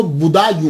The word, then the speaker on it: بدایوں: گے، مسلمان بھی ہیں۔ اس کا تلفظ جو ہے وہ بدایوں ہے، کیونکہ یہ پرنس بوڑھا جو ہے نا اس کے نام کے اوپر اس سے یہ منسوب ہے، تو اس لیے اس کو بدایوں کہا جاتا ہے۔ لیکن بعد